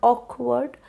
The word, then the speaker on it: awkward: notice the word awkward when I said the word awkward it has two syllables I stressed on the part Oak and I said the word word with less Force because it's a disyllabic word the tendency is to